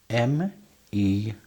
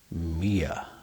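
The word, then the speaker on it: mere: M E R E. How do you pronounce that? Mia.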